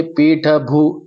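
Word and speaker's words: पीठभूः: फिर आप देखिए पीठ भू, अगेन वही भू में हलंत है, तो हम पूरा ह का उच्चारण नहीं करेंगे, यहाँ पर हम सिर्फ ह हल्का सा यूज करते हैं, पीठ भू, तो ये मैंने भू, तो ये ह का उच्चारण इसके अंदर आ गया।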